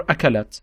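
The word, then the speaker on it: أكلت: Like for example, akalat, she ate, akalat. So I'm saying akalat T at the end because we're using this T.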